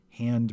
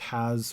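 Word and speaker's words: ה: easier because it just has one article the definite article pronounced ha if the known doesn't have the article then it's considered indefinite now the article is always pronounced ha and it's written as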